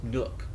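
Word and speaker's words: Nuuk: in uuk Nook and they actually pronounce it with like two syllables Nook Nook um but I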